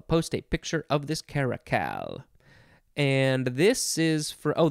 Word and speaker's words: caracal: Okay, next we have caracal, or just caracal. C-A-R-A-C-A-L. C-A-R-A-C-A-L, and that pronounces caracal.